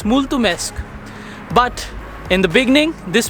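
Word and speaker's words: mulțumesc: thank you to anyone but now i can pronounce it very well it's multumesque but in the beginning this pronunciation was extremely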